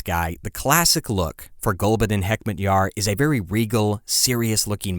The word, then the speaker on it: Gulbuddin Hekmatyar: It's a Pashtun name.